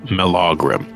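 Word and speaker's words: Melaugrym: m e l a u g r ym mogram okay it was one brief mention in her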